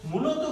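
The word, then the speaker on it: mai: আস্ক থাকবে এরকম বা এরকম বা এরকম তো মূলত গ্লোবালি এগুলোর উচ্চারণটা তখন কিন্তু হয়ে যায় হচ্ছে একার বা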